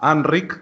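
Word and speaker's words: Enric: Porque es muy raro escuchar en una conversación en español, escuchar tu nombre pronunciado en catalán.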